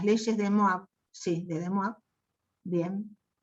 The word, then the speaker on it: De Moivre: de Moivre, sí, de De Moivre, bien, que todo el mundo le dice de De Moivre, porque lo lee tal como se escribe, pero es De Moivre.